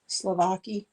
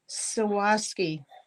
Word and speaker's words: Swarovski: Now, I don't know whether those are Slovaki.